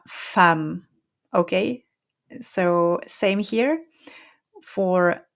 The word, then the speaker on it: femme: Okay, now we have a few words ending in emme, and for a few of these words, you're not going to pronounce the E here or the nasal sound. You're going to pronounce this as a. Okay, so here it's we have the woman and we say la femme.